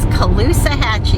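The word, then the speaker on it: Caloosahatchee: we are at the Colusa Hachi River a lot of people ask how to pronounce that it is Colusa Hatchy it's a tough one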